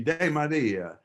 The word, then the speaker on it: DeMaria: used to say that's that's really not the correct pronunciation should be de Maria but uh when they